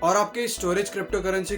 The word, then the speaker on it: Storj: उसका spelling STORJ है बट उसे प्रोनाउंस स्टोरेज की तरह किया जाता है।